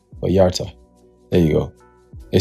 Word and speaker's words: Vallarta: Vallarta.